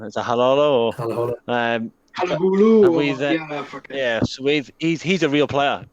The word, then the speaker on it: Halaholo: And jumping on the back, you just said there with Willis, I don't know how to pronounce his name. Is it Halolo or Halaholo? Halahulu.